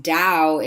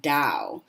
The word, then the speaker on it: Tao: and it still pronounced Dao if you see it spelled with a t sometimes it's spelled t AO and it still pronounced Dao so just sort of